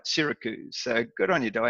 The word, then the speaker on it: Syracuse: as Diane well knows I used to say Sarah Cruise until she corrected misty I was all over that until she got got me pronouncing it right Syracuse so good on your door hand thanks very